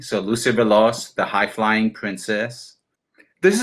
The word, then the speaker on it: Veloz: Lucy Veloz. Veloz. Yes. Like Velocity. So Lucy Veloz, the high flying princess.